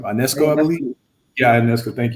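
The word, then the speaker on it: Ionescu: the way Sabrina Sabrina I how do you pronounce her last name UNESCO yeah and that's good thank you I'm gonna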